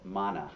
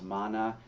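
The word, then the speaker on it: māna: When the Buddhists talk about pride, they call it mana. I don't know if I'm pronouncing that correctly, but it's m a with a line over the first a na. Mana.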